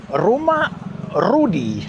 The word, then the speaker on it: Rumah Rudi: So that is Rumah Rudi. You have to roll your R's though, like that, like an idiot.